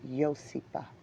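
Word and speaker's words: Iosepa: They'll say it's pronounced Yosipa. Sounds like a song, don't it?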